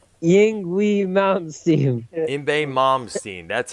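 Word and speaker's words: Yngwie: Imbe Malmsteen. That's how it's pronounced.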